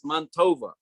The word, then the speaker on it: Mantova: jews called mantuva in in italian mantua is montova so they used to pronounce it mon tova the good man right